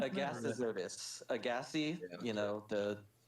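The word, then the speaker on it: Agassizodus: It's Agassizotus.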